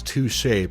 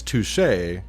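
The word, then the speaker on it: touché: be the same Walter's touche pronunciation when Walter says touche he mispronounces it as touch what up with your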